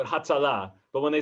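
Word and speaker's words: הצלה: I thought you put the emphasis on the final syllable. Yes, you would. So Hatzalah.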